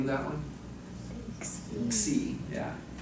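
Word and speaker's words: xi: name of that one c yeah when you anglicize it i guess you spell it x i but you say c c is real fun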